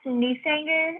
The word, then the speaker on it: Newsanger: name for us please it's pronounced newsanger it's like new singer with the country accent news anger thank you thank you